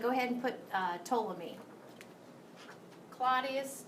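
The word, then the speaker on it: Ptolemy: ahead and put uh toam me Claudius C told me the p is silent okay and he was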